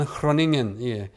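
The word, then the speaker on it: Groningen: 헤라르트 판 흐로닝겐, 네덜란드 사람인데, 그로닝겐이라고 읽지 않고 흐로닝겐이라고 읽습니다.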